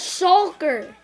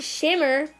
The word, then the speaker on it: shulker: one minute guys what that's shulker not Shimmer you can do oh